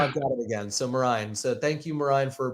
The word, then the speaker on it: Marine: But Marine, right? Marine. Right. But Marine. Marine. all good. I had it All and then good. I lost it and now I've got it again. So Marine.